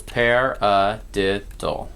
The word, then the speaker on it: paradiddle: on the paradiddle ok the paradiddle is made up of four syllables pair a dip dole ok and that is